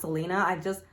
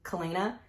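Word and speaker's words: Celaena: I think her name is pronounced Selena. Ever since I read it the first time in 2018, when I read it in my head, I pronounced her name Kalena.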